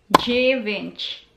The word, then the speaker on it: dziewięć: Dziewięć. Dziewięć. Number 9. Dziewięć. Dziewięć. Dziewięć. Dziewięć. Dziewięć. D and Z. Again, one letter in Polish alphabet. Pronounced as J in English alphabet.